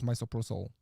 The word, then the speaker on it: misoprostol: We tend to use misoprostol. That's how it's pronounced.